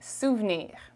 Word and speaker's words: souvenir: okay police souvenir so souvenir in french is souvenir souvenir or souvenir okay we speak quickly so it's going to sound like souvnir okay the e after the v is not very emphasized here so okay has